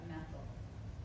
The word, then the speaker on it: methyl: Okay, so what we do is we take the ane off of methane and we replace that with YL, so you pronounce that methyl.